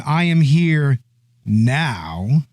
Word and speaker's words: I Am Here Now: You got to say it like that, right? I am here now. I am here now. I am here. There's a pause, okay? There's an ellipsis in the title, and by God, we are going to pronounce it.